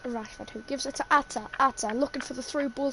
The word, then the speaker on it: Arthur: Atta. A-R-T-H. Atta. Brazilian. Oh, him! Oh, I thought it was a different person. No, he's Brazilian. I know. And they pronounce his name Atta.